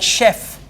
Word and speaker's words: chef: origin word words like chef Chef is a French word we have it in English so the words that come from French in French we always pronounce CH as sure otherwise CH has to